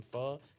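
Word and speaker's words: phở: Yeah, in Vietnamese it's pho. Okay. Yeah, closer to that.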